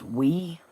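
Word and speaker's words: Oui: It's pronounced wee.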